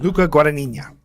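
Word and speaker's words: Luca Guadagnino: Luca Guania.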